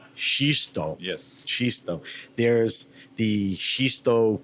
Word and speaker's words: Xisto: You pronounce it Zisto, right? Yeah, Xisto. Xisto.